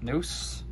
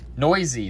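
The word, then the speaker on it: Neuse: on a 99 very very nice shell denise noose noisy that's what it is it's sheldon noisy which i would have never guessed that's how you pronounce that last name but it is yeah sheldon noisy so tomorrow i have an 8 am and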